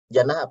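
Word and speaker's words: جنة: Ada huruf jim, ada huruf nun, ada huruf tak marbutah. Bacanya jannah, artinya surga.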